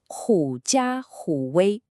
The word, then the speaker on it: 假虎威: The idiom you see here is pronounced Jiǎ Hǔ Wēi.